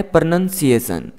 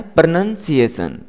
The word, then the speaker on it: pronunciation: इसका सही उच्चारण है प्रनन्सिएशन। किस तरह से इसको बोलना है, प्रनन्सिएशन।